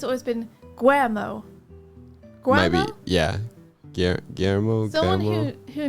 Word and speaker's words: Guillermo: Not Guillermo. Guillermo.